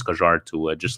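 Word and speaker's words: Kjær: pronounce uh kier stevie p has his own pronunciation maybe you're new here but it's kajar it's kajar to uh just like channel blue but yeah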